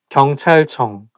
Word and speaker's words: 경찰청: So I think it's because CH sound, like when it's placed next to each other, I think it's going to make the word not easy to pronounce. 경찰청, 경찰청. And it also has 이응, 응 sound at the end of each character.